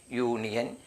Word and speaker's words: union: ഇനി നോക്കൂ, UNION യൂണിയൻ, university, യൂണിയൻ office, ഇതൊക്കെ നമുക്ക് ഉണ്ടാക്കാം. യൂണിയൻ. ഇവിടെ യു വന്നിരിക്കുന്നു, ഇവിടെ യു വന്നിരിക്കുന്നു. ഉച്ചാരണം ഇവിടെ ഉ എന്നല്ല, ആ എന്നല്ല, യു തന്നെയാണ് കൊടുത്തിട്ടുള്ളത്. യൂണിയൻ, അല്ലേ?